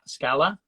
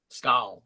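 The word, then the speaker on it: Skål: I believe you pronounce it Scala? Skal.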